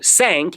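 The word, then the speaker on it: cinq: it's not for the higher levels and so sank is what five so what is saying in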